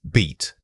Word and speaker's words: beat: Here we see a clear contrast between the short and long bowels. Again, the length of time you hold the E sound makes it feel much more open in your throat.